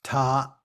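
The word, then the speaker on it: 他: him or her and this character is pronounced ta it's a phonetic when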